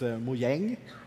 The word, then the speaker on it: Mojang: up with the name Mojang what does it mean it's a Swedish word if you spell it the same way but you have like two dots over there a it's mu yang which means gadget or